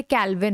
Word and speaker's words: Calvin: Next question is algae used by, ये कैल्विन है, कैल्विन, CALVIN, कैल्विन, spelling mistake है, कैल्विन है, ये कैलिन नहीं है, कैल्विन।